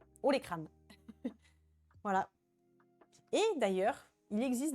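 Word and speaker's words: olécrane: votre ha et crâne, ça s'écrit comme ça, les comme olé en espagnol et crâne comme crâne. Ha les crânes.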